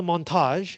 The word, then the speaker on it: montage: call this Moni um the reason it's called a montage and the reason I'm pronouncing this word in a very French way is because it is French Montage in French just means editing for some reason the